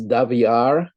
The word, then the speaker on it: Daviorr: my guest today is daviar which i'm told rhymes with caviar indeed yes indeed who